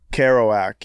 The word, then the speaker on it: Kerouac: Kerouac? The guy, how do you say his name? Kerouac, yeah.